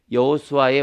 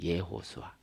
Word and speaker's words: 여호수아: 여호수아의 원 발음은 예호수아예요. 예호수아.